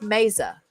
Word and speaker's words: Mesa: kind of pet peevey my maiden name is Mesa me Za it seems like it should be very easy to pronounce uh I know uh from a Spanish it and it's Latin it's a Latin name so I know that technically it should be pronounced Mesa okay but but I have